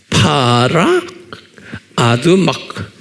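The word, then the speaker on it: פרה אדומה: 그런데 히브리 말로는, 유대 말로는 파라 아두마 그런 거예요. H가 뒤에 있으니까 헉 이런 거예요. 아두막 이렇게. 파라 아두막 이렇게 발음.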